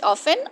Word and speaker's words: often: And often, often के दो pronunciation है, British often और American often.